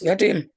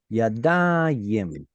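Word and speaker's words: יָדַיִם: So Yadim. Hands. Yadim. No, yadayim. Yadim. Yeah. It's this ayim right here that I'm trying to focus on.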